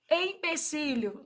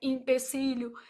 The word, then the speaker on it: empecílio: Empecílio, não é L, I, né? E também não é impecílio.